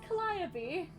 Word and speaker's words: Calliope: Calliope- It's pronounced both ways in all actuality.